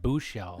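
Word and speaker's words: Buechele: It's pronounced Buchel. Yeah, it's that weird E that's in there.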